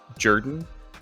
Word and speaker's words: Jordan: So first name is pronounced actually Jordan.